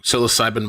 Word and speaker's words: psilocybin: psych psychoan siloc cybin I'm saying it wrong psilocybin mushrooms of the world has anybody ever tripped